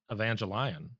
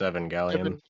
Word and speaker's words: Evangelion: Surely you need to pronounce that Evangelion, right? No, it's Evan Gallion. Evangelian. Every time I see it, I'm like, Evangelion. That's what I That's what I like. Angel sounds like a lion that goes out and preaches to people.